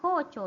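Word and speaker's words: 校長: Jadi kocho bacanya ya, kocho, jangan lupa ko-nya panjang ya, kocho.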